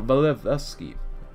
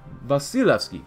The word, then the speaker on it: Vasilevsky: Welcome back to the USSR, Marshal Valevsky. Vasilevsky. I keep saying his name wrong.